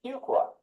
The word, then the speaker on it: Fuqua: to quickly pronounce fua that's not one qua it's not two qua it's a few qua so my 10-year-old told me to remember how to pronounce the school's name fuka fuka fuka School of